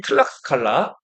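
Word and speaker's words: Tlaxcala: 예, 여기 라라고 돼 있는데 기역 받침이 들어가면 더 맞겠어요. 발음이 틀락스칼라.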